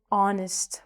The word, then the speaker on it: honest: Um an honest woman. So, again, we're not saying the H.